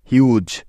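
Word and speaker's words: huge: এখন বাকি আছে ই, যা এই শব্দের একেবারে শেষে আছে, আর আমরা জানি যে শব্দের শেষে ইটা অলওয়েজ সাইলেন্ট থাকে, অর্থাৎ ওই ই এর কোনো উচ্চারণই হয় না। তাহলে এইচ ইউ জি ই একত্রে মিলে হয়ে গেল হিউজ, হিউজ, অর্থাৎ এইচতে হ, ইউতে ইউ এবং জিইতে জ।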